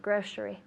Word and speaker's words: grocery: Grocery, grocery. Grocery. Good, so it sounds like SH, grocery.